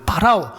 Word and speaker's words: 파라오: 파라오. 여러분, 우리 성경에서는 애굽의 바로 왕 이렇게 여러분 표기가 되어 있는데 원래 발음은 뭐예요? 애굽의 황제를 파라오라고 그러잖아요.